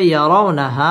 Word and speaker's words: يرونها: তাড়াতাড়ি পড়তে হবে ইয়াউমা ইয়ারা রা পুর হবে ইয়ারাউনাহা মধ্যে তাবাই এক আলিফ